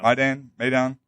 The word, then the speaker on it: Maidan: out that we backed it's Maidan, is that the pronunciation? Yeah, Maidan, the Maidan revolution, but it wasn't.